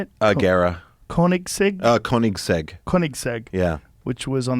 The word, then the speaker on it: Koenigsegg: Koenigsegg?